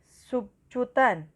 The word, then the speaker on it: subkutan: kedua ada suntikan substance temannya bacanya subkutan sabki tnf itulah tulisannya sub cutan atau huknah Tahta alzid